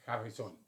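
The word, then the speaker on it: Harrisón: Para ello hemos invitado a la licenciada Noreixel Rodríguez Harrison, lleva acento en la obra al final, entonces Harrison, ¿sí?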